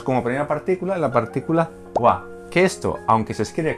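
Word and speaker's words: は: función gramatical tenemos como primera partícula la partícula waa que esto aunque se escribe con el carácter gir gana de ha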